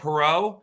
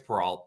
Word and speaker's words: Peralt: Yeah, everyone tries to do the French pronunciation of my name. And everyone goes, "Oh, Perot?" Like, it's Peralt. There's a T.